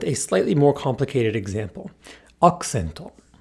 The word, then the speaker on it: アクセント: Accento. Accento. Is the U voiced here? Well, it occurs between a K, K, K and an S, S, S. These are both unvoiced consonants. Thus, the U becomes devoiced.